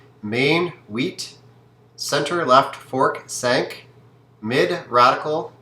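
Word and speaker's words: cinq: the pronunciation of seven sank is five and wheat is eight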